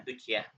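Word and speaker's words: دُجْيَة: Dia adalah jamak dari dujiyah bi dhammid dal, dengan mendhamahkan dalnya, wa bisukunil jim, dan dengan mensukunkan jimnya, dujiyah. Bacanya gitu.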